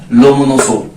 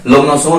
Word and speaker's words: Lomonosov: ये हमारी रिज है, जिसका नाम क्या है, लोमोनोसो, स्पेलिंग क्या है, LOMONOSOV, ओ पढ़े हैं भाई, ठीक बात है। लोमोनोसो रिज कौन सी है भाई, अगर आपसे कहा